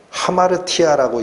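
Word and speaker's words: ἁμαρτία: 그래서 이 죄라는 단어가 구약 성경이 기록된 히브리어에서는 하타트라고 읽힙니다. 신약 성경이 기록된 헬라어에서는 하마르티아라고 읽힙니다.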